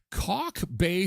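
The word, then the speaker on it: Kalk Bay: Cock Bay, South Africa. Brass Bell. The Brass Bell surf. Okay, before you get any ideas, this is spelled Kalk.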